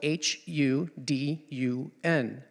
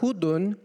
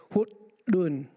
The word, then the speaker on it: hudun: in Thao, it's spelled H-U-D-U-N. But the D is sort of it has a weird voice onset release. So it's not hudun, it's hudun. And you suck the D in, hudun.